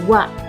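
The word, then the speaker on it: は: Yang H itu berubah cara bacanya menjadi wa. Watashi menjadi watashi wa, bukan watashi ha ya, tapi watashi wa.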